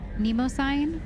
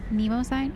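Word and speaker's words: Mnemosyne: Is the M silent? Nemo sign. Nemo sign. Yeah, the M has to be silent in the Thorn system to recover the Reaper IFFF.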